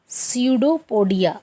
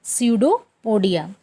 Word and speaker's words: pseudopodia: उसको बोलते हैं स्यूडोपोडिया। इसमें पी साइलेंट रहता है, स्यूडोपोडिया।